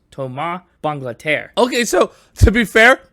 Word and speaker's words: Thomas Bangalter: It's pronounced Tom Banglader.